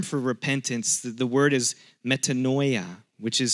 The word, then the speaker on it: metanoia: The Greek term for repentance, the word is metanoia, which is spelled meta, like M-E-T-A-N-O-I-A, metanoia.